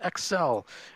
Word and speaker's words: XEL: I play a little game called Excel. It's spelled XEL, but it's pronounced Excel, like the Microsoft program.